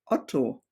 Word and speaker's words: Otto: There's another old-fashioned German name, which is Otto, with the short sound.